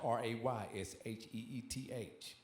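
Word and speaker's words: רֵאשִׁית: The original is spelled Rechit, and it's pronounced Raysheth.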